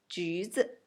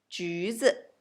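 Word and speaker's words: 橘子: It pronounced like 橘子，橘子 neutral tone.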